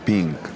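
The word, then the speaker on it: Ping: И в ринг выходит Лю Пинг. Фамилия произносится как Пин. Так что заранее прошу прощения у китайского боксера за то, что назвал его Пинг.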